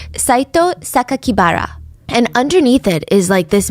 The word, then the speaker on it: Sakakibara: The press read the kanji, so the Japanese characters for Saito Sakakibara, and instead of pronouncing the way that he intended, the killer